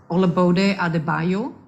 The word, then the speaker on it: Olabode Adebayo: it's not that important am I pronouncing your name right olabode adebayo yes that's right great that could have